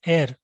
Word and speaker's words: ere: ये pronunciation is एयर, जैसे एयर होता ना वैसे एयर मीन्स बिफोर द ग्रूडन.